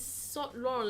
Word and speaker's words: Yves Saint Laurent: It's and then it's Saint Laurent.